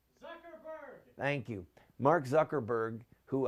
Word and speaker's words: Zuckerberg: Zuckerberg.